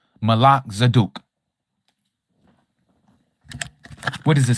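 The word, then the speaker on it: Melchizedek: You may know it as Melzdc. True pronunciation Malak Zaduk.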